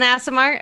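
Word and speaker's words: Aasimar: Is it an Asimar? Okay, because I figured there was no way I was going to say ass, but apparently I am.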